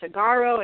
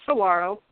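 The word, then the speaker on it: Saguaro: if you had some I hear people saying sagaro and because it has the G but it's pronounced Saro and those they're beautiful Cactus and they're most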